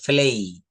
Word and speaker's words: play: প্লে football, প্লে না, এটা উচ্চারণ হবে প্লেই। প্লেই, Player.